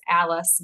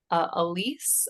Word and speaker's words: Elise: Her name, we were pronouncing it as Alice, but we found out later that it was actually Elise, I think.